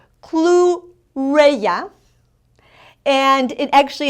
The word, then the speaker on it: chlorella: Chlorella, and it actually in English is pronounced chlorella. In Spanish is chlorella.